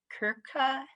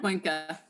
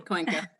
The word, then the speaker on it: Cuenca: And I'm going to pronounce this wrong, Kimberly, but it's Kirka versus Cohen. Cuenca. Thank you. Cuenca.